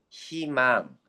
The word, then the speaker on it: 희망: 그냥 띄엄띄엄 저희 희망 다 뭘로 발음했어?